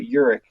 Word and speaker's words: Uhrich: like I said nobody can say it or spell it but Urich you're like okay I was I was I